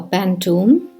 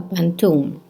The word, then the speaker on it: pantoum: of hibiscus eyes is a pantone or more correctly uh pronounced in malays in malaysia as a pantoum it is a lyrical